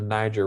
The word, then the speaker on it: Niger: The kingdom of Ghana started along what is known as the Niger River. It is not pronounced how it looks. It is pronounced Niger.